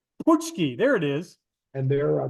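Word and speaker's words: pączki: And so explain to me what's a potchki, what's the It's a Polish word. It's pronounced punchki. puchki, there it is.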